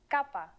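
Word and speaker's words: κάππα: letter this time is again a consonant kappa its sound is k and it looks like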